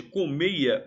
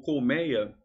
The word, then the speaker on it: colmeia: Hoje, colmeia ou colmeia, ambas as formas, ambas as pronúncias, com som aberto, mei, som fechado, ei, ambas estão certas. Antigamente só a fechada era certa.